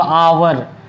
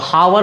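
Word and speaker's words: hour: इसको पढ़ते क्या है हम लोग अवर यह वर नहीं पड़ते हैं इसको हावर नहीं पढ़ते हैं अवर पढ़ते यानी ह यहां पर साइलेंट होता है उच्चारण क्या है इसका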